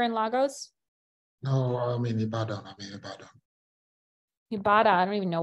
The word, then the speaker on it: Ibadan: No, I'm in Ibadan. Ibadan. I don't even know where Ibadan is. Is that Ibadan or no? Yes, Ibadan.